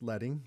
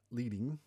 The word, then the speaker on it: leading: It's pronounced leading, not leading, like you might think.